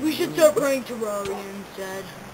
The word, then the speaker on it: Terraria: We should start playing Terraria instead. Terraria or Terraria? It can be pronounced either. Yeah, but only noobs pronounce it Terraria.